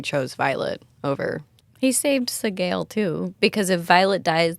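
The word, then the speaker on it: Sgaeyl: He saved Sigel too, because if Violet dies, then Taryn dies, then Sagel dies. So Sagel bagel. I keep saying it wrong. Sagel. It's Sagel.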